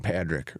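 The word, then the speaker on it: Padraic: but I have a very ethnic name padrick right yes yes and it's spelled p a d r a i c I would put my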